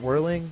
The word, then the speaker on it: Werling: Anyway, I've got Werling, did I pronounce that right? Yeah, that's correct.